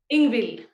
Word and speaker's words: Ingvild: Can you pronounce that? Ingvild.